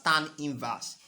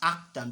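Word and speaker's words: arctan: of V over u please this is not pronounced as tan inverse it is pronounced as actin because if you say it's tan inverse tan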